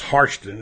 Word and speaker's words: Hairston: because a lot of people won't know Jack Hairston or pronounce actually pronounce harsh tune as he used to say but we like